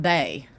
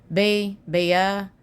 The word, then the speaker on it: Bia: It's not Bay. Bia.